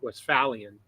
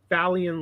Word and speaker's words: Westphalian: They were, of course, Americans, so they were pronouncing it Westphalian. And when I first saw the term, I was thinking like Phalian, like fail.